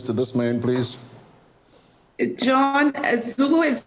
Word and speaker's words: Zugu: He says, George, what's Zorgose? Z-O-R-G-O-O-S-E. How do you spell it? Well, John, to begin with, I never said Zorgose. Z-O-R-G-O-O-S-E, or Zorgose. I said Zugu.